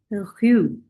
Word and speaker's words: rue: So this will become rue.